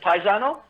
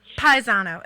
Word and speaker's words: Pisano: is it piss Tina pisano no that was pretty good but most people pronounce it paganel Paisano is that a lot